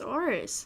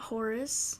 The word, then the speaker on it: Oris: It's Oris, not Horace. Who said Horace? Selena Del Renta told you how to say it. Oh. You gotta say it correctly. You don't say the H.